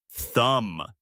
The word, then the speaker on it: thumb: Thumb. T H U M B. The B is silent. You say thumb.